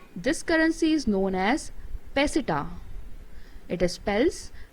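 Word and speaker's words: peseta: of spain and this currency is known as pesita it spells p e s e t a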